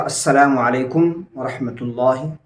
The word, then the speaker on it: السلام علیکم ورحمۃ اللہ: یہ الفاظ ہوں گے۔ اور صحیح تلفظ اس کا السلام علیکم ورحمۃ اللہ۔ اس کے ساتھ ایک